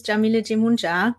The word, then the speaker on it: Jamila Jamuna: know who I am my name is Jamila Jamuna and that's how you pronounce my name I'm a spirit guide